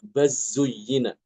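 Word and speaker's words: بل زين: Bal zuyyina dibacanya baz zuyyina.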